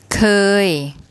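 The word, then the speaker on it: เคย: เ ค ย เ ค ย เ ค ย That means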